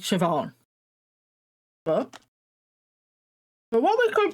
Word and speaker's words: Siobhan: So the despite of how it's spelled, it's actually just pronounced Siobhan.